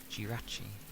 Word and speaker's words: Jirachi: Jirachi. Also we're emphasizing the G. Well, I know it's spelled with a J, but obviously how they say it is G's.